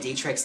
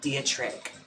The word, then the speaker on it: Dietrich: I was mispronouncing marlea dietrich's name this whole time like it's not diatri it's like Dietrich Marl Dietrich I guess the actual pronunciation of it but no